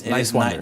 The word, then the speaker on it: Niswander: Talking to Dan Nowman Niswander. But it's Niswander.